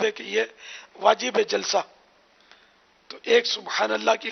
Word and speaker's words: جلسہ: ہاں وہی جلسہ جو جلسہ ہوتا ہے نا اسٹیج پہ, وہ الفاظ مطلب تلفظ یہی ہے, جلسہ.